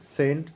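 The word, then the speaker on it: cent: সিইএনটি সেন্ট, সিওয়াই CLE cycle. সুপ্রিয় শিক্ষার্থীবৃন্দ, তোমরা দেখতে পাচ্ছ এখানে কিন্তু সি এর পরে ই রয়েছে, এখানে রয়েছে ওয়াই, এই জন্য সি এর উচ্চারণটা এখানে দন্তস্ব হয়েছে।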